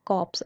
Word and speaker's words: corpse: इसकी प्रोनाउंसिएशन होती है कॉप्स, आप ध्यान रखना, कॉप्स, इसमें आर साइलेंट है, कॉप्स।